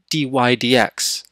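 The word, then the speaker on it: dy/dx: the derivative, which is dy over dx, or dy dx, as we say. So we would normally pronounce this as dy d x, dy dx.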